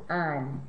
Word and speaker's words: han: Y han. Han. Muy bien. Se nota que hay un H en cada forma, has, a, hemos, han, pero no se pronuncia la H, solo los vocales, has, a, hemos, han.